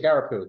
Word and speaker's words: Jagarapu: Jagarapu, thank you. I always want to switch the R and the G.